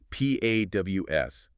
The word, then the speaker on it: paws: P-A-W-S, paws. Right. It sounds a bit like pause, like when you stop a movie, but it's spelled differently.